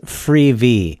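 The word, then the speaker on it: Freevee: changed the name to it rhymes with tv so it's free v that's f r e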